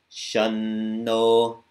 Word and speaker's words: Shanno: It's not always pronounced like an M. Like in this first case, it's going to be pronounced like an N.